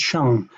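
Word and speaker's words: sheng: It's pronounced shung.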